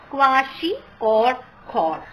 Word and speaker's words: kwashiorkor: main kinds of pem those are marasmus and kwashiorkor pronounced as kwashi or cor okay so these are the two diseases so